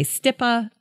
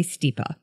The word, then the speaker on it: Stipa: and by the way there are so many ways to pronounce stipa some people say stipa some people say stippa I say stipa cheers there's one cool